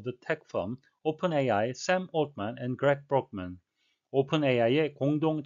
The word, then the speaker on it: Altman: OpenAI 공동 창업자인 올트먼과 브록만, 이 두 사람의 이름은 세 개의 자음이 겹쳐져서 발음상 세 자음의 법칙이 적용될 상황이 생겼는데요. 그래서 올트먼이라고 하기보다는 올트먼, 그리고 브록먼이라고 안 하고 브록먼이라고 이렇게 발음이 돼서 청취에 좀 어려움을 더해주고 있습니다. dismissed Sam Altman for a lack of candor.